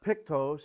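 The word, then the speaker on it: πτωχός: Uh this is the Greek word uh uh pictose. I believe the ch is pronounced like with a k.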